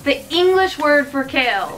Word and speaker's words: Kale: I kept calling it Kale. I don't know how they want to pronounce it, but I'm just going to go off how they do it in Japanese, which is Kairu.